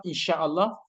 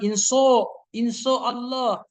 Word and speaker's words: insya Allah: Yang penting ini jangan bilang inso Allah atau insya Allah, insya Allah, jangan begitu, ya kan?